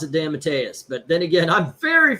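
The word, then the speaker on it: DeMatteis: I I pronounce it Damantis because I believe that's how I've heard it said before. Damantis. There's no N in it. It it's it it damat Dantis. Oh, Damatis.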